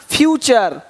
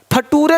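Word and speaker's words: future: कल्चर पिक्चर है ना फ्यूचर। फटूरे नहीं बोलना कि देखो भाई ऐसा नेटर है तुम्हारा कि फटूरे खराब हो रहा है। नहीं नेचर फ्यूचर ठीक है इस तरह से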